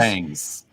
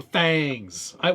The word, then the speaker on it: Thangs: It's pronounced you could just fangs. Oh, thangs. Yeah, Fangs. that's right. It's in the Thingiverse. It's thangs.